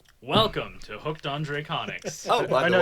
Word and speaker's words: HDraconics: Draconics. It's too long. Draconics. The H is silent.